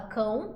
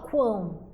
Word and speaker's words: quão: aqui o quão observem que o u aqui produz som quão tá a gente não fala cão a gente fala quão certo então u aqui